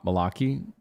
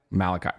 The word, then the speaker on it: Malachi: So, at the first player, we have I'm I'm going to say this name wrong. I'm Mal Malaki. Malaki. Malachi.